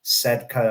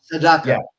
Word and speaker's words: Sedaka: And we talked about this a little bit, the the tribute to, uh, Neil Sedka. Am I pronouncing his name right? Um, Sedaka.